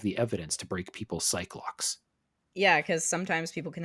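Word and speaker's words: Psyche-Lock: I do find it interesting you pronounce it as psych lock. Oh. That is also how I pronounced it mentally and verbally, I suppose. Yeah, Cyclock. I suspect that the game may be going for psyche lock, as in this person is trying to hide something so hard that they have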